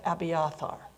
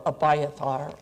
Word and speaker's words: Abiathar: and that's uh the family of abiathar or abayathar or however you want to pronounce it and this is a